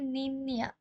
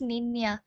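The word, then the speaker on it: niña: হয়ে যায় আচ্ছা যাই হোক ওদের অ্যালফাবেট এইটার প্রোনাউন্সিয়েশন হচ্ছে এম ইয়ে যেমন হচ্ছে এটা আমি আগেও বলেছিলাম যেমন ওদের একটা ওয়ার্ড হচ্ছে নিন্নিয়া এটার কিন্তু হচ্ছে নিন্নিয়া হয়ে গেছে নট নি না ইটস নিন্নিয়া এই এক্সেন্টের কারণে এটার প্রোনাউন্সিয়েশন নিয়া হয়ে গেছে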